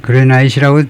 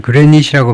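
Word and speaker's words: granite: 흑연 이거 고맙고 이거 아까 화강암이라 그랬는데 화강암은 그니 복습을 하자면 그레나잇이라고 드물게 발음하지만 그레닛이라고 발음을 해야 되네요.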